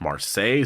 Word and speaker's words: Marseille: a recent video and some people were correcting me saying that it was actually pronounced Marseille so if I'm saying